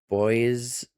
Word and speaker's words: Boise: We have another marginal risk of severe weather in this area and near Boise, I think is how you say it, and then near Phoenix and Los Angeles.